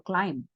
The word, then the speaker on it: climb: Por ejemplo, climb. Aquí la B está al final, pero realmente el último sonido es la M, right?